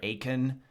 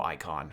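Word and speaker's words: Eikon: icon of Earth and I'm not pronounce it icon like I've heard people still go like Akon or or go icon or Aiken but I'm gonna go icon since it's how the people in the game pronounce it dance encounter new icon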